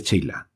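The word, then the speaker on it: Chayla: Y bien, el jefe y el adelantado de la persecución, después de la Mignon de Baville, François de Langlade du Cheylat, se pronuncia Cheylat, arcipreste de los Evans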